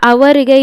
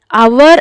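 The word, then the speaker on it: hour: ಮಾಡ್ಕೋತಾ ಇದೀನಿ ಅಂತ ತಪ್ಪು ಅವರ್ ಅನ್ನೋದನ್ನ ಪ್ರೊನೌನ್ಸ್ ಮಾಡಿ ಅವರ್ ಅವರ್ ಯಾವ ಒಂದು ಸೌಂಡ್ ಉಚ್ಚಾರಣೆ ಆಗ್ತಾ ಇದೆ ಅಲ್ಲಿ ಓ ಆರ್ ಅವರ್ ಆಗ್ತಿದೆ ಅಲ್ವಾ ಅಗೈನ್ ಮತ್ತೆ ಇಲ್ಲಿ ಏನಾಗುತ್ತೆ ಎಚ್ ಸೈಲೆಂಟ್ ಆಗುತ್ತೆ ನಿಮಗೆ ಇದೆಲ್ಲ ಗೊತ್ತಿದೆ ಅಲ್ವಾ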